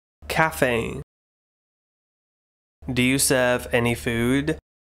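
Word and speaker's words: café: Cafe.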